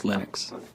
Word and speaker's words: Linux: your preferred pronunciation um when i speak swedish it's venus when i speak finnish it's linos when i speak english it's linus and i really don't care how people pronounce my name but linux is always linux he developed a kernel